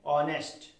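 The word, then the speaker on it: honest: लेकिन मैंने बता दिया तो आप इसको ध्यान रखेंगे कि क्या यहाँ पे एच साइलेंट होता है, तो अगली बार से आप इसको क्या पढ़ेंगे, ऑनेस्ट, ठीक है।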